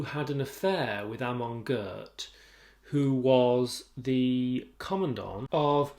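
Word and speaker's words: Göth: In this case, Ruth Calder and Amon Gert. That's the pronunciation I'm going with. Amon, ironically for an SS commandant, is actually a Hebrew or Yiddish name, I think. Gert with the umlaut above the O.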